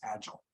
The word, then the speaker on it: agile: would typically stress it where you stress agile okay or uh or mobile okay but because the patterns of north american english are more front loaded when it comes to nouns and adjectives i pronounce this word as agile okay and again you